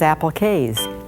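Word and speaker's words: appliqué: bringing you Appliques, usually pronounced applique.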